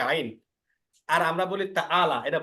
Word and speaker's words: عين: হা আর আইন একই স্থান থেকে উচ্চারণ হয়, অর্থাৎ হলক এর মাঝখান থেকে।